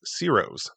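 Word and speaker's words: Ciro's: first building on your right is branded as Ceros. That's spelled C I R O apostrophe S.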